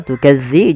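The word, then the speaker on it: تُكَذِّبَانِ: Tukadziban, hati-hati lama tukadzi, jangan diganti dengan zai.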